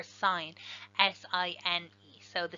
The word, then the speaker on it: sine: and they are the sine ratio so sometimes we mispronounced sin because it's SI n but that's just short for sine as I and so